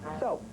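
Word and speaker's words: såpe: Here we have shampoo and soap, which is spelled in Norwegian S-A with a dot over the A-P-E, but it's pronounced soap.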